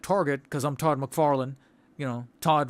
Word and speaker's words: Todd: Todd rhymes with God.